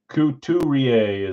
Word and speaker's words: Couturier: Couturier is how you say it.